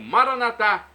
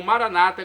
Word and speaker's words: Maranata: E agora do aramaico eu clamo, Maranatá, como dizemos nós católicos, ou Maranata, como dizem nossos irmãos separados, os evangélicos ou protestantes. Não importa a pronúncia, o significado é o mesmo.